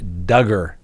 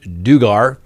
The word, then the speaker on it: Duggar: we have the josh duggar case rhymes with hugger that's how we all remember that it's not josh dugar that's right well guess